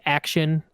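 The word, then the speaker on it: Axion: older skate shoot like action it's spelled like ax ion like they're coming back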